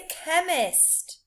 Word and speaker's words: chemist: These words have a k sound in, but they're spelt with a C and a H.